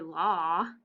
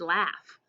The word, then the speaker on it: laugh: a couple tricky parts the l isn't but the au that normally says all we don't say law it's laugh and then the gh is tricky too it sounds like an f ocean what's tricky in